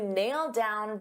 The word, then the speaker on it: nailed down: So because I have a D sound on down and these two go together, I'll pronounce it as one and you'll only hear one D sound. Nailed down, nailed down.